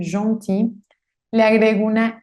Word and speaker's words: gentil: Si termina en L, como gentil, no pronuncio esa L, gentil, le agrego una L y una E.